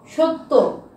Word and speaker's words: সত্য: সত্য, সত্য কি আমরা এখানে কি উচ্চারণ করছি?